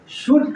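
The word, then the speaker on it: should: आता हो जैसे शुड शुड का मतलब होता है चाहिए लेकिन श हम नहीं पढ़ेंगे इस एल का उच्चारण बिल्कुल नहीं होगा उड उड का मतलब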